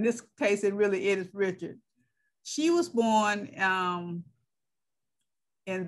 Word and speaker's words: Lena Richard: would say richard because in louisiana we have both the english and the uh french pronunciation and you see when